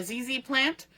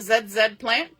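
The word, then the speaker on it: ZZ plant: Um, now for those of you in the US, you would probably call it a zezy plant, but um I call it a zed plant because that's how we pronounce zed.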